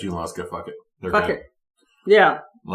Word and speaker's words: Junaluska: that are native words, that's a Cherokee word, and in Cherokee it's not pronounced Junaluska. Not traditionally, now it is. Cherokee wasn't pronounced Cherokee either, it's Saligee. But Junaluska is like Hunaluska.